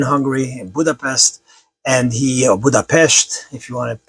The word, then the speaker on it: Budapest: My mother was born in Hungary in Budapest and he Budapestt if you want to pronounce it corre correctly.